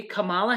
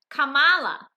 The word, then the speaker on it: Kamala: time you could be kamala harris it's not that's not how you say it it's kamala and it's kamala kamala i don't even know